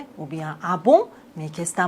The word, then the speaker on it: ah bon: Abon, on doit pas prononcer le N complètement. On dit pas bonne." Ah bon ? Ah bon ?